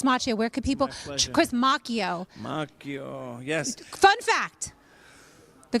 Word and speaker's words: Macchio: Chris Macchio.